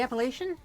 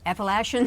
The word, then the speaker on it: Appalachian: Oh, the Appalachian.